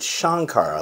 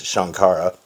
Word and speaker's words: Sankara: spelled Sankara s-a-n-k-a-r-a but in the movie they pronounce it shankara like it has an sh so I'm not sure